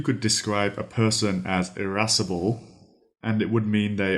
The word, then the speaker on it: irascible: describe as being rustic our third word is erasable erasable that is spelled i a s iress c i b